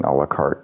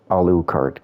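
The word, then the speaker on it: Alucard: Uh, even for just wearing alikart gear. Uh, alukart gear. I keep pronouncing that wrong.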